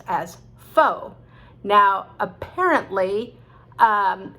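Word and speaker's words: faux: the foe okay so you can be overly correct and it depends where you are okay so don't overthink these things uh americans say foe not um all right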